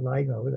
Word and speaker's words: LIGO: A LIGO, I would call it LIGO, that's the way I pronounce it, is a very low frequency detector of low frequency gravitational waves around 100 hertz.